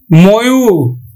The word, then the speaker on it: ময়ূর: ময়ূর, ময়ূর, আমরা উচ্চারণ করব ময়কার ময়ূর।